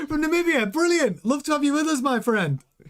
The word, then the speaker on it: Namibia: From Namibia.